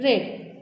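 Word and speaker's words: read: रीड रेड रेड, यहाँ पर spelling same है बट थर्ड फॉर्म और सेकेंड फॉर्म को रीड करते समय इसको रेड पढ़ा जाता है।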